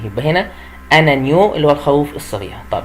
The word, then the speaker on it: agneau: بعد كده في ابنهم بقى اسمه انانيو، انانيو اللي هو الخروف الصغير، اسمه ايه؟ انانيو، انانيو. وخلي بالي ان هنا الجي ne se prononce pas، ما بنطقش الجي، يبقى هنا انانيو اللي هو الخروف الصغير.